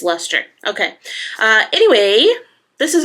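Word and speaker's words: Leicester: It's not lice lester, it's luster.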